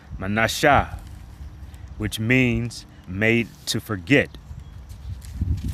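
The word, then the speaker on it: Manasseh: And in the Hebrew it is pronounced manasha which means made to forget because as as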